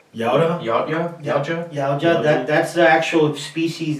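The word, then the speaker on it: Yautja: Yauta? Yauja.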